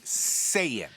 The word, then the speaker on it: Saiyan: Saiyan. They're Saiyans. Okay? Would you call Wookiees Wookiees? It's not hard to figure out how to pronounce fictional names. It's Saiyan.